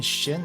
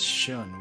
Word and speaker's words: Shin: expecting oh I keep I keep calling Shin as shun why do I keep killing calling him shun be episode yeah who